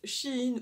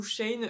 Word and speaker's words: SHEIN: un hall du site chine où shane d'une personne à l'autre la prononciation de change alors du coup je préfère dire les deux c'est la première fois